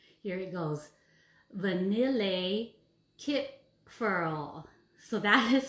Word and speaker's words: Vanillekipferl: So the cookie I chose today is called, here it goes, Vanillekipferl. So that is spelled Vanillekipferl, Vanillekipferl.